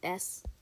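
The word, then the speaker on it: с: it actually is not a c it's called s it's supposed to be the this is supposed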